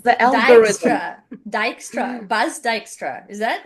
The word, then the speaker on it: Dijkstra: So do you want to try the pronunciation on the record or Dijkstra. close? Dijkstra as the algorithm. Dijkstra. Dijkstra. Bas Dijkstra.